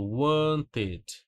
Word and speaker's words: wanted: O e, ele só vai ser pronunciado, tá legal? Ó, esse e, aqui eu falo wanted. Pronuncio tudo. Wanted. Pronuncio o som do T de tatu, pronuncio o som do E. Então, o seu verbo ele terminou com T de tatu, e aí você pronuncia bonitinho o ED. Wanted. Nada de ed, hein? Não é wanted. Wanted. Som de E, não de E, tá?